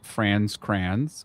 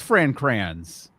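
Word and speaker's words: Fran Kranz: Um we then meet Marty played by France Crayons or sorry the fact that's not his actual name is is is upsetting. Um it is Fran Cray.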